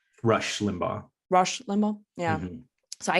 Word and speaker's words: Rush Limbaugh: were speaking about I'm not sure whether I'm pronouncing this correctly Raj Limbaugh Rush Limbaugh Rush Limbaugh yeah so I had to like